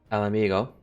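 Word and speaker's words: Ala Mhigo: struck but Bound for El Amigo that's how you pronounce it Ali amigo we were to hold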